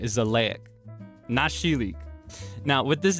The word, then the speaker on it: Xileak: Uh so uh his name and this is going to be a fun pronunciation for you to to hear for the first time is Zleek von Deonia III. Yeah, that's right. Zleek Nashilik.